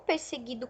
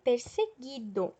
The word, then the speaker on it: perseguido: no caso eu digo perseguido então não a letra um não é pronunciado a questão 24 complete